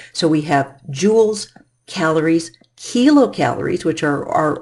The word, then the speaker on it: Joule: name this gentlemen is was named James Prescott Joule and it is pronounced Joule by jewelry even though it is